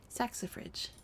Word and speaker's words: saxifrage: Pronunciation, please. Saxifrage.